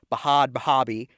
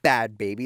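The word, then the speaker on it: Bhad Bhabie: what people tell me, her rapper name is Bahad Bahabi, not Bad Baby. That's not how it's spelled, okay?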